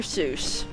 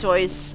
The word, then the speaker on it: Seuss: Seuss. Yes, I know it's pronounced Sois.